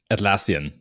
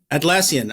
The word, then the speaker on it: Atlassian: and uh I cannot pronounce Atlantis Atlas you pronounce it for me Kevin atlassian atlassian I just my brain will not process that